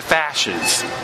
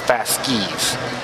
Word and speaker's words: fasces: about the comparison with the fashes or fask excuse me that's they how you pronounce it fast skis and of course I